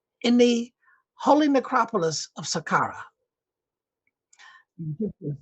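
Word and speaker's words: Saqqara: the holy necropolis of Sakara. This is the Egyptians spell it the Arab spell it s a Q A R A where I think they should be s a k in sakara in his tomb there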